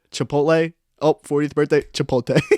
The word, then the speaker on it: chipotle: do you call that are we talking about chipotle okay there you go you said it right no so you said it right this time but i do my mom religiously calls it chipote yeah i do too